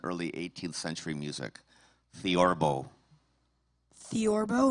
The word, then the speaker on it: theorbo: Theorbo. Am I pronouncing that correctly? Yes, you are.